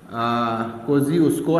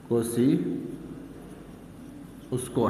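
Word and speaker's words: Kosciuszko: असल ये पढ़ा जाता है को जी उसको, ये इस तरह पढ़ा जाता है, ठीक है ना। ये इसकी स्पेलिंग है और ये इसकी प्रोनाउंसिएशन है, को सी उसको, करेक्ट।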